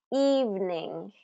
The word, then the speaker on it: evening: Evening, evening, evening. Not evening, evening, evening. So even though it's a 3-syllable word, it gets only 2, it's pronounced with only 2 syllables.